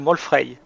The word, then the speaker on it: Molfrey: Je m'appelle Molfrey. Molfrey. Molfary. Molfrey, comme ça se prononce en fait. Comme une molle fraye, tout simplement.